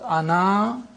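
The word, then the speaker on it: أنا: words this means that the alif is not pronounced in continuous reading but it is to be pronounced in the pausal form when you pause ana you read the aleph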